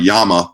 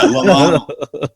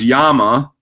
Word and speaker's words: Llama: little side note there a lot of people think about it as like the animal the Llama you know the the pack animal from South America right it's pronounced Yama if you want to